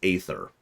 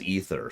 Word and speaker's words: Aether: In my mind, that should be pronounced Aether. But they say it in-game as ether, so occasionally I'll correct myself, and occasionally I won't.